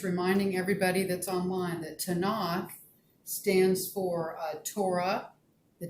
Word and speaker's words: Tanakh: It's called the Tanakh. If you were going to spell that, it would be Tanach.